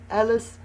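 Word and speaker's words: Alys: And uh and Alice, people always get my name wrong. It's a L Y. You've spelled it right there. So, don't try and look up Alice like is in Alice in Wonderland. You won't find the book.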